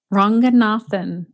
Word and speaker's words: Ranganathan: introduced the pronunciation and then how do i pronounce your last name ranganathan ranganathan okay very good yeah it's phonetic it's actually